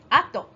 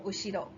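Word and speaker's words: 後: Ato or ushiro. When you pronounce it as ushiro, then it's behind. If it's ato, it's after.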